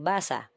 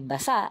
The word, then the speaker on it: basa: kahulugan ng mga salita tulad ng salitang basa kung ang bigkas nito ay ibig sabihin sa Ingles ay to read kung ang pagbigkas nito ay basa ang ibig sabihin nito sa Ingles ay wet nangangahulugan na nagkakaroon ng